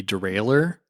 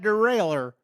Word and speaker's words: derailleur: So here's my reason why I would vote for Derailer versus saying Derailleur Derailer. versus saying Derailleur and spelling it the French way is because I had a professor at DePaul.